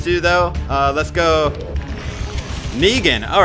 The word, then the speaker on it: Negan: out with these two though uh let's go negan all right i did say it right all